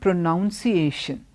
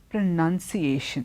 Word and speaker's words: pronunciation: But when you take it on to a noun form, it's pronunciation. It's not pronunciation. Pronunciation. Even the spelling is different, and you don't say pronunciation, you say pronunciation.